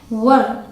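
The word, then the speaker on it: were: डब्लू ई आर ई इसे बहुत लोग वेयर प्रोनाउंस करते हैं जो कि गलत है इसकी सही प्रोनंसिएशन है वर या फिर व व को थोड़ा खींच के बोलेंगे र का साउंड नहीं आएगा व ब्रिटिश इंग्लिश में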